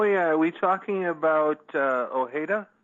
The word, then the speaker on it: Ojeda: Donald Trump oh yeah are we talking about Ojeda OG de it's pretty here up here it's pronounced og de here I'm sorry it's probably